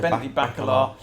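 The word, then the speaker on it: Bacalar: week is this bacala that's how you pronounce it baby back Allah so what that one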